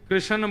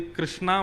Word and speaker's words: कृष्ण: लाल की जय बंधुओ कई लोग इस नाम को अशुद्ध बोलते हैं कई लोग कृष्ण बोलते हैं कई लोग कृष्ण बोलते हैं कोई कृष्णा बोलता है भगवान का नाम शुद्ध उच्चारण करो नाम क्या है कृष्ण भगवान जय श्री कृष्ण